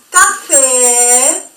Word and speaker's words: café: Ahora bien, la E con acento circunflexo se va a pronunciar como una E acentuada del español, E, como por ejemplo en la palabra você. En cambio, café, que contiene el acento agudo, se va a pronunciar mucho más larga la letra E.